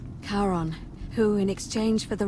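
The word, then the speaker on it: Charon: the name you heard wasn't karen it was okay h a r o n the ferryman of the dead karon who in exchange for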